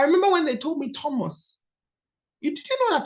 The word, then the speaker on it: Thomas: th into Thomas so I was say Thomas I thought I was cool and this woman looked at me my pastor then in Northern Ireland and she said no it's Thomas I said no no you're not you're missing the H it's right here I was doing the